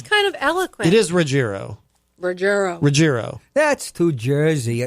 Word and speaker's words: Ruggiero: This is Too Many Times by Diane Roiro. Did I say it right? Rogerro. It is Rogerro. Riierro. What? What did I say? You said Roiro.